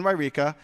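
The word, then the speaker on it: Yreka: That is pronounced So it's in Wairika.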